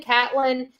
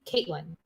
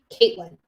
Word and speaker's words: Katlyn: T L Y N Catelyn. We called her Cat. I assumed it was the same thing. Everybody's telling me her name's pronunciated Kate Kait Caitlyn. Caitlyn.